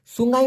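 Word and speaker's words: sungai: দেই সুঙ্গাই এস ইউ এন জি এ আই উচ্চারণটা হবে সুঙ্গাই মানে কি নদী নদী বুঝেন ব্যাপারটা এবার সমুদ্র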